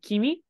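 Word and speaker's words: 君: is this guy which on its own is pronounced as um Kimi and it has lots of meanings your most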